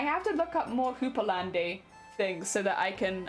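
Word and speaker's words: houppelande: how to pronounce cupalande oh it's just hoopalan Hooper land Hooper land okay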